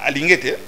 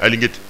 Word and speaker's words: Alingete: Bah oui bon, Alingete, c'est ça. Maintenant j'ai bien prononcé. Alingete.